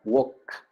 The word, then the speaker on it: walk: En la palabra caminar, walk, que no pronuncio la L, por cierto, termina en ¿qué letra?